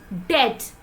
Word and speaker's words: debt: example next word is death not debt which means karza so here B remains silent moving ahead and let's